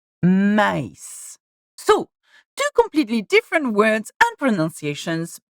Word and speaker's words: maïs: And just by adding the tréma on top of the I, or E in French, we have separated the sound of A and E, making it maïs.